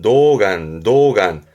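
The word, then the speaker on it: 童顔: 발음은 노간.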